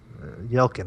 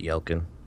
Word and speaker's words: Yelchin: Anton Yelchin I really you know don't I yell Kim isn't it or Yelchin you know it's like elgin is it yeah on a percent sure yeah i pronounce it y el kun okay well regardless of